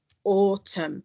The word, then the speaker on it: autumn: so we've got here or autumn and it's actually got this silent n on the end over here i can